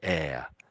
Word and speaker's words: heir: For instance, in spa in French, all hes at the front are silent in French, but in English, most of the time we say it. But this is one of those words where we we probably get it through the French. We sort of borrowed it in some way and we probably keep their way of pronouncing it. So, we just say air.